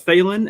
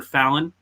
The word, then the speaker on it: Phelan: What's up, Phelan? And I've learned that name too. For some reason, I kept on calling her Fallon, and that might actually be the name.